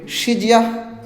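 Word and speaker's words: 时间: বাংলা ভাষায় সময় চায়না ভাষায় সিজিয়ান সিজিয়ান উচ্চারণটা হবে সিজিয়াং মানে সময় বাংলা ভাষায় বছর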